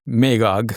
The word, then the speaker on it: Magog: J in English, as a hard G, as in Godfrey, right? As in God, yes. So Ya'juj becomes Magog, okay? Ya'juj and Ma'juj. So Ma'juj becomes Magog, and so the J's get translated into hard G sounds.